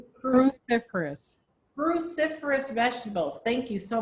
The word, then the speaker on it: cruciferous: vegetables like broccoli kale cauliflower how do you pronounce it again cuciferous cruciferous cruciferous vegetables thank you so much cruciferous vegetables